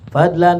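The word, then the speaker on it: فضلًا: Fadlan minallahi ta'ala. Itu dibacanya fadlan, karena yang dibuang bisa jadi as'aluka fadlan, ya, gitu. Atau juga bisa juga hadza fadlun minallah, bisa juga, ya.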